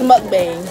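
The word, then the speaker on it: 먹방: It's mukbang.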